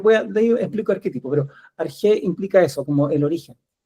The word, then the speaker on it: arché: Una que es bien antigua, que es de la filosofía griega, que viene de esta palabra que se llama arg, que se escribe arché, ¿ya?